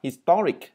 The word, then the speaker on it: historic: History, tức là cho âm rơi vào số 1 là history, nhưng mà tính từ của nó lại là historic, cho âm rơi vào chữ to.